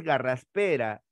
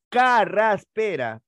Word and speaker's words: carraspera: sigamos hay más todavía no es garraspera sino es carraspera porque se relaciona con la palabra catarro catarro no es cangrena si